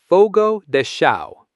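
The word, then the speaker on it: Fogo de Chão: The third syllable sounds exactly like the word you use when a bill or payment is expected immediately, which is do, duh. The final syllable is the entertainment performance or movie you watch at a theater, which is a show, show.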